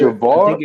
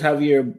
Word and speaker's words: Javier: want to mispronounce it I don't know if it's javar is Javier yeah it's Javier I think it's bom